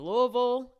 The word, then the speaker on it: Louisville: PA Royal Oak Michigan Louisville Kentucky Lou got to say it like you have a mouthful of balls masselon Ohio Fort Wayne